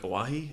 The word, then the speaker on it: Oahe: Yeah, they're no longer going to drill under the Missouri River or the Lake Oahe. Is that how That's you pronounce correct.